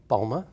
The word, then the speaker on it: Balma: Balma, did I pronounce it right? Balma.